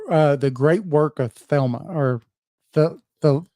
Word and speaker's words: Thelema: thma or the the the how do you say that I see Thelma the Lima the Lima the Lima so just like crowly his his words are like saying he's pronouncing his words different Cy is really looks like Crawley it does and the Lima looks like thma it does look like thma don't thma it says thma but anyway now um Crowley's